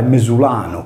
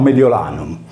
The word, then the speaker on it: Mediolanum: Adottando tali regole, il toponimo della città antica di Milano si deve pronunciare mesulano, come in sardo, e non mediolanum.